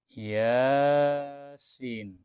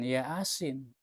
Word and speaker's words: Yasin: Bacanya Yasin, bukan Yasin. Ya-nya panjang, Yasin.